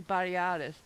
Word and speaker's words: Batiatus: They don't even pronounce the family's name right. I don't remember how they say it, but it's supposed to be Batiatus, and they call it something else.